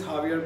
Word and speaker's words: Javier: को कहते हैं that my name is Javier but it's spelled with J, तो वो कहती है alphabets are so confusing, J silent है, पता नहीं चलता, लेकिन